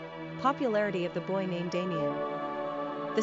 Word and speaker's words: Damion: Pronunciation: Damian.